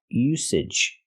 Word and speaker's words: usage: the usage the usage the word is pronounced usage we have to use the S sound S no voice s usage like star and sleep use usage and now to the